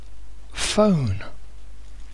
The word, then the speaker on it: phone: knowledge and knes pH the pH makes a an f a f sound so pH is f phone phone or mobile phone phone here they are